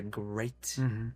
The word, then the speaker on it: GR8: Muchos nombres pusimos en el Excel y al final el dijo GR8 porque en inglés se pronuncia great de grandiosomo.